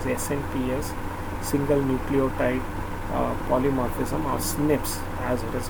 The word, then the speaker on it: SNP: call it as snps single nucleotide polymorphism or snips as it is pronounced which occurs in human this information promises